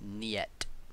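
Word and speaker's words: нет: nothing like it yet that's how you pronounce it nyet excuse you she has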